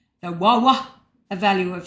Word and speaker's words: Waw: Well, looking at it, I would pronounce it as Vav, but it's actually Wawa. It's a W sound.